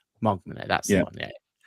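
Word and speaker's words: Hogmanay: Is that that homogamy? Is that right? Is it might butcher the name? Mogman. Mogman.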